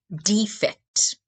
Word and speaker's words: defect: Our word pronunciation is defect. Defect. The first syllable is stressed.